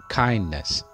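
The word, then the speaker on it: kindness: The first word is काइंडनेस. Most of the people miss pronounce this word as काइंडनेस. याद रखिएगा, अगर किसी word के आखिर में NESS आ जाए तो उसकी साउंड नेस नहीं होती, नेस सॉफ्टली प्रोनाउंस करना है.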